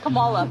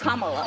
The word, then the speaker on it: Kamala: Earlier you said Camala. Way she pronounces her name is Kamala.